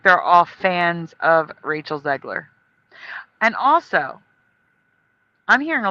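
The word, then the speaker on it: Zegler: I think they're all fans of Rachel Zgler. And also I'm hearing a lot of people calling her Ziegler, but it was Rachel Zgler.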